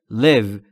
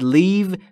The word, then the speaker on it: live: در مورد تلفظ live دقت بکنید. تلفظ ای در live به صورت کوتاه بین ای و ا، یعنی به این صورت باید تلفظ بکنید. live live. و اگه یک کم بکشیدش یعنی بگید leave میشه ترک کردن. پس با یک تغییر تلفظی معنی کلمه عوض میشه.